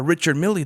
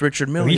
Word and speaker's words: Richard Mille: of like where they were explaining how uh richard millie the the obviously the luxurious watch is not pronounced richard miller like you know see that that's the type